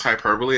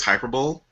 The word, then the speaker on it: hyperbole: hyperbole you know what I heard somebody pronounce hyperbole as hyperb yeah I've heard people say hyperb too just which just sounds